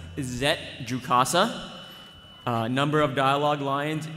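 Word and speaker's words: Zett Jukassa: so for the next character uh it's officially pronounced zet jcasa uh number of dialogue lines in the script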